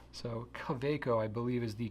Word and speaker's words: Kaweco: So I believe the proper pronunciation is Kaweco, because it's a German company and W's are pronounced as, English V's. So Kaweco, I believe, is the correct pronunciation.